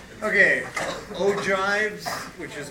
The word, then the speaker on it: ogives: okay ogives which is how that's pronounced and percentiles so you remember that we